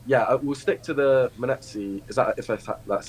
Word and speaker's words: Munetsi: But yeah, we'll stick to the Munetsi. Is that that's how you pronounce it?